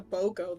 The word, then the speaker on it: BOGO: a shop with a BOGO that sounds good oh what buy one get one oh yeah that's how you pronounce it yeah how have you been pronouncing it I don't know Bongo bongos so kind of